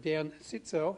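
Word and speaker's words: Cziczo: We've already got an agreement from Professor Dan Sitzo, that's how he pronounces it, to come and talk about how the atmosphere affects climate change.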